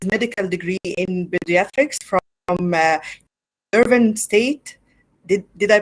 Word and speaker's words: Yerevan: Mego, born in Lebanon, as I said, he earned his medical degree in pediatrics from Yerevan State. Did I pronounce it right?